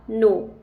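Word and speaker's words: know: इसीलिए यहां पर के एन ओ डब्ल्यू का प्रोनंसिएशन होगा नो ना किनो के आई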